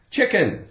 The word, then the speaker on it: chicken: Ick, chick, chicken, chicken. I think most people like chicken. They like to eat chicken. Okay, the C is silent, so we have the I, it, the K, k, chick, ick, chicken.